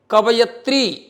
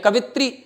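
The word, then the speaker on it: कवयित्री: ठीक से लिखा है कवियत्री शब्द होता है हम लोग उच्चारण करते हैं कवित्री तो जैसा हम सुनते हैं वैसा लिख दिया ये हमारी गलती थी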